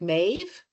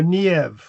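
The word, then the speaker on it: Niamh: That's why I said it can can be pronounced but Oh, so sort of more like mave. No, nev like that more.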